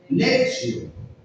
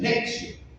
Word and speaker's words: lectio: en latín lección divina en ese idioma la t con la i se pronuncia como una s bien Es como si dijéramos lexio se lee así lexio bien algunas personas pronuncian